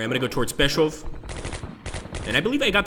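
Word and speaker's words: Pskov: Alright, I'm going to go towards Peshov. And I believe I got that pronunciation right. I think it's P-S-K-O-V. I think the K is silent. It would be Peshov.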